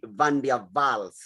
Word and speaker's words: van der Waals: me that uh the van der waals is uh is of german origin and in german they pronounce w as v so we ought to say van der vaals van der waals forces